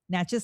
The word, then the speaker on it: Natchez: Natches like matches. I always try to remind people how to say it.